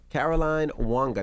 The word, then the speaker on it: Caroline Wanga: coming i'll see you there all right okay caroline wanga did i say it right you did all